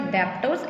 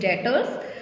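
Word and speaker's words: debtors: पहली बात, यहाँ पे बी साइलेंट होता है, इट्स नॉट डेप्टर्स, इट्स डेटर्स।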